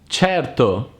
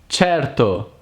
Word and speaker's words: certo: will be cat while C plus E and I is pronounced like CH like in certo certo sure the English equivalent